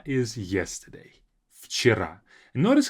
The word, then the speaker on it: вчера: We say вчера, as if it's an F sound.